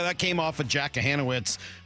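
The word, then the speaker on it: Kochanowicz: Yeah, that came off of Jack Kahanowitz, who I mistakenly referred to as Jack Kachanowitz earlier, and I was corrected. You know what? Cares. The C is silent.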